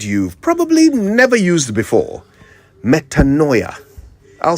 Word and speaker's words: metanoia: Metanoia. I'll spell it. Metanoia. Metanoia.